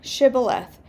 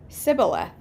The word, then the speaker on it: shibboleth: not they would tell him to say shibboleth if he was from ephraim he would say sybileth because the people of ephraim cannot pronounce the word correctly then they would take